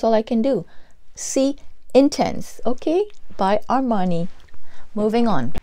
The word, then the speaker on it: intense: tons it's intense but you know the French say intense I'm not French okay